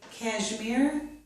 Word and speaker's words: cashmere: I have given you one exception down here, the word cashmere, which is most often pronounced with the j or voiced sound, but it can be pronounced with the sh sound.